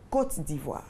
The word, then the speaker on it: Côte d'Ivoire: C'est la Côte d'Ivoire. La côte. La Côte d'Ivoire. Comme la côte d'Adam. Voilà, simplement. La Côte d'Ivoire. La Côte d'Ivoire. Et pas la côte.